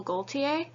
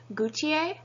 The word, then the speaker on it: Jean-Paul Gaultier: He pronounces it Jean-Paul Gaultier, where most French people would not pronounce the L, they would have it Gaultier, but because he refers to himself with the L, that's what I will be doing as well.